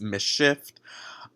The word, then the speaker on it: MSCHF: So I realized quickly after filming this video that the company name is actually pronounced Mischief.